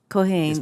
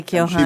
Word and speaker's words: Keohane: Keohane, is that how your name is pronounced? Keohane. Keohane, ma'am.